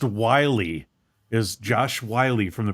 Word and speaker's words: Whyle: Pronounced Wiley, is Josh Wiley from the practice squad. Josh Wiley, I think. Yeah, it looks like Wild, Whyle, but it's pronounced Wiley, is what it says.